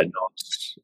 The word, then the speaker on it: Nantes: However you pronounce that? Yeah, Nantes.